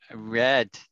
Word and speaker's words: read: red isn't that right so read as an r e a d has got two pronunciations it's read or read read or read depending whether it's the current present tense or the past tense so i have read